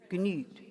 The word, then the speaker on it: genügt: Would you pronounce the G? Genügt. Genügt. Umlaut, not U. Yes, you pronounce the G? Yeah, good. Ach, wie vergnügt. And have a little more of an E tongue. You have an E tongue with a really tight lip.